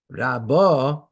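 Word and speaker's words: רבה: Kiraba mimikra, the word rabba in Torah, hatam lamata, when the accent is on the last syllable, rabba, the on the base, because it's rendered as gedela, as great, or gedela heleches, or progressively becoming great.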